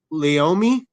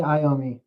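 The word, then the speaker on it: Iommi: He formed Black Sabbath in 1968 alongside Tony Leomi. Tony Ayami.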